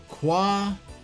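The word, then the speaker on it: Kwajalein: This is Quadjaline. That's assuming that J is a hard J and not a soft J. That's pronounced like an H.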